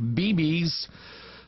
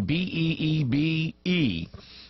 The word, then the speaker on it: Beebe: Now that is Governor Mike Beebe, B-E-E-B-E. That's actually a town in Arkansas. Only it's not Beebe, it's Beebe. That's how you pronounce it when you're down from